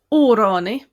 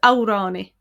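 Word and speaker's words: amhránaí: Órani is a singer, also pronounced as Aurani. Órani, Aurani. Aurani would be a more Munster pronunciation.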